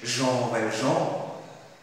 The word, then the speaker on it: Jean Valjean: One night, Jean Valjean, the word, the name in fact, is pronounced as, in French, Jean Valjean.